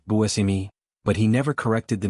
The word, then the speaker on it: Buscemi: He explained that in his family, the name was always pronounced Buimi, but he never corrected the media or fans because he didn't want to seem pedantic.